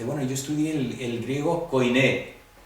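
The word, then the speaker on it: κοινή: Entonces escribí la palabra en griego y dijo, kinos. ¿A qué kinos? Era koiné. Pero él decía, bueno, debería haber sido kine o kini.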